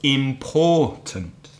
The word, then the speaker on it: important: Which one is strong? The middle, the second one. The second syllable. So important, important.